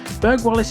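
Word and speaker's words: Burghwallis: most information about was berg wallace so here we go berg wallace is pronounced with the g sound according to the doomsday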